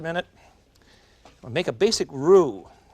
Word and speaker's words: roux: and make a basic roux it's spelled r-o-u-x in dallas they call it a rux i'm afraid i found some fellas in new orleans that cook and they call it a rocks too which really i think